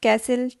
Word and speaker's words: castle: castle christmas half so match t silent castle t silent christmas tea silent so these three are silent t words and half is different because this is l silent word silent l word question number three solve